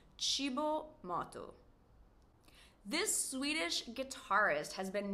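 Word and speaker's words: Cibo Matto: It's cibo motu.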